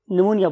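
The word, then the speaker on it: pneumonia: हम इसमें पी को साइलेंट रखते हैं, लेकिन जब लिखेंगे तो प्न्यूमोनिया लिखेंगे। ये मैंने इसलिए बोला है ताकि आप स्पेल ना मिस कर दे। प्न्यूमोनिया, निमोनिया बोलते हैं इसे।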